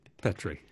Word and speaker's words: Petrie: He always had to did a sort of, no, it's not Petrie, it's Petrie.